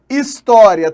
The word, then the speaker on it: História: História tem 8 letras, 3, 6, 8, ok? E 9 fonemas? Não, porque o H inicial em português não é pronunciado, a menos que tenha som de R e essa palavra venha de fora, né? Então, na verdade, tem 7 fonemas.